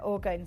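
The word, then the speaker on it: orgone: So, they come in these really beautiful kind of like again, Oregon energy crystal boxes. Um, or yeah, orgon, sorry, energy. I keep saying it wrong.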